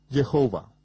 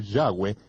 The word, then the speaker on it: Yahweh: parte de los gentiles el mundo de habla inglesa lo ha pronunciado aún peor al pronunciar la y como J jehova ni siquiera cerca cerca de 7000 veces aparece el nombre del señor Yahweh en las escrituras hebreas